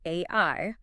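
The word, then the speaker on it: 愛: The Japanese kanji for love is pronounced ai and traditionally it requires exactly 13 brush strokes to write.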